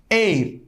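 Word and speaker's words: heir: pronunciation in English is air air why so because H is silent air so so here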